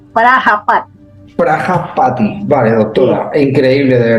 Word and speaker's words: Prajapati: Por eso hacían eso, sí, Prayapati con J, Prayapati, quiere decir padre de la humanidad Con en J. la India. Vale. Sí, Prajapati se escribe, Prajapati.